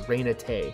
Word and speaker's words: Reina Tay: usain says it was jedi master reina tay which rhymes with run away which is what they